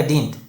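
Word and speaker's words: didn't: shirt में पढ़ा जाएगा डिंट और इसको डिडेंट नहीं पढ़ेंगे डिंट पढ़ेंगे क्योंकि इसमें डी साइलेंट हो जाता है जब नट जुड़ जाता है दे स्टार्टेड मेकिंग फन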